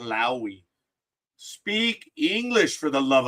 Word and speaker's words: Lowe: I am railing because at the game yesterday on the PA the player's name was Lo. L O W E not Lowi.